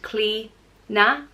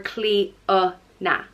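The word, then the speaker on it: Clíodhna: of love and beauty it can be pronounced CLE na cleaner or CLE uh na cleaner and the extra syllable I think is just dependent on where in Ireland you're from and goddess cleaner is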